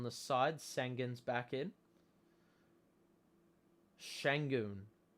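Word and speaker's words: Şengün: side sangen's back in shangoon according to iron eagle that's the pronunciation shang cam thomas drive pastor blake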